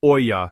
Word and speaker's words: olla: Well, an olla, pronounced olla, is a porous, unglazed clay pot that's buried directly into the soil near plants.